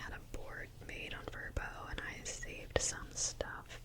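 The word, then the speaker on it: VRBO: So, I've actually I was using the website VBO. I don't know if it's pronounced Verbbo. I think that's how I think you're supposed to say Verbbo, but I always say VBO.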